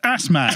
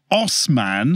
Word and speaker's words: Assman: Anyway, from these dubious claims to ass man. So David Assman. Oh, sorry, pronounced Osman.